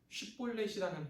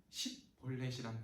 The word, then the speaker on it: 쉽볼렛: 이를테면 쉽볼렛이라는 발음이 표준어라면 십볼렛이라는 발음은 사투리인 거예요.